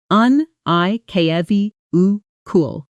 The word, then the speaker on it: unequivocal: Pronunciation: un-i-kwi-vuh-kul.